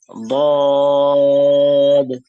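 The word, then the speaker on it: ض: আরবিতে, আরবি ভাষাকে অনেক সময় অন্যভাবে লুগাতুদ দদ বলা হয়, মানে খুব কঠিন ভাষা। কি হবে, দদটা যেহেতু কঠিন করে উচ্চারণ করতে হয়, এক সময় কি করতো,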